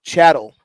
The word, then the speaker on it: chattel: The pronunciation is chattel slavery.